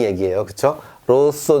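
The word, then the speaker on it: rosso: 소가 아니라 로 쏟아 이 얘기 해요 그쵸 로쏘 는 요 빨강색을 뜻합니다 그리고요 숯의 쏘 숫제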